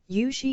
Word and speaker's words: Yushi: Yushi is the Chinese pronunciation of Yuko's name.